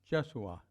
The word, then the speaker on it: Jeshua: about our way sure Jesus pronounced jesua in Aramaic and there's a book